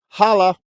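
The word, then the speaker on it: hallå: Holla.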